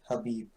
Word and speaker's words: Habib: Yeah, it's so weird how like it's spelled Khabib, but it's Habib.